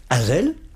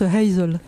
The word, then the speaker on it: Hazel: beaucoup plus loin rassurez-vous Azel on pronce comme ça non on prononce Hazel Hazel bon Hazel on